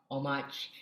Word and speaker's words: Homage: Oh, I've also recently learned it's pronounced as Homage, not Homage.